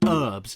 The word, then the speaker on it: herbs: Why do you call them herbs? Why is there a silent H there? What, do you live in an house?